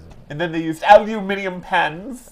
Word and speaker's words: aluminium: And then they used aluminium pens. Aluminium. You say it like a fool. Aluminium. It's aluminum.